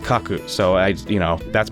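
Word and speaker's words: 書く: down or draw rather fun fact in Japanese the word for write and draw are this pronounced the same they have different kanji but they're both pronounced Kaku so I you know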